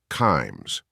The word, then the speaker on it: Kimes: picture said in part kimes rhymes with climes the competing Washington Post